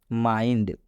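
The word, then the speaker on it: mind: मतलब होता है दिमाग यहां पर आई के बाद एनडी आया आप देख सकते हैं आई के बाद से एनडी आया हुआ है इसलिए आई का उच्चारण आई हुआ है इसलिए इस आई का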